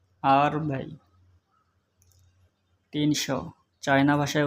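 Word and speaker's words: 二百: মনে মনে বলবেন বাংলা 200 চায়না ভাষায় উচ্চারণ হবে আর বাই আর বাই আর বাই 300 China ভাষায় উচ্চারণ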